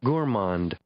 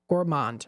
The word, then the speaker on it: gourmand: curious just to see as to how it's pronounced Gourmand Gourmand okay yeah so I guess I got it